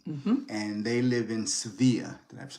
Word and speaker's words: Sevilla: and they live in Sevilla. Did I pronounce that correctly? Correct. Hey, and they live in Sevilla, and he talked about um, the acceptance and the comfort and the safety.